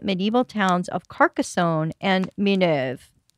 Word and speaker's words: Minerve: towns of Carcassonne and mineve at least that's how the French pronounce it did you ever read